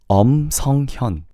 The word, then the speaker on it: 성현: So, pronouncing his name in the final is 성현.